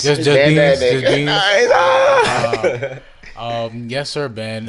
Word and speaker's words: Beanz: Do we say or Beanz? Just Beanz.